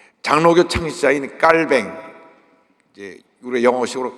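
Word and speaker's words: Calvin: 그래서 이 장로교 창시자인 깔뱅, 이제 우리 영어식으로 칼빈이라 그러는데, 이 프랑스 지역에서 태어나서 이제 원래 이름은 깔빈이라고 합니다. 그래서 프랑스에서 공부하고 온 사람은 칼빈이라고 하면 무식하다 그래요. 근데 칼빈은 미국식 발음이고 깔뱅은 이제 프랑스식 발음인데, 이 깔뱅이 장로교를 창시하면서 5대 강령을 발표합니다.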